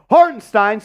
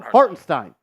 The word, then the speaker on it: Hartenstein: McBride McBride McBride or hardenstein starts he started 50 games he started since December 11th he's just pronouncing it wrong it's har yeah hardstein how about you call him hartenstein like his name is and you're trying to